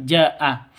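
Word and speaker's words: جاء: Minal aab wal Ah ini panjang ada tanda ada layar tanda layar Berarti ada mad mad bertemu dengan Hamzah di satu kata Jaa Jaa ini artinya datang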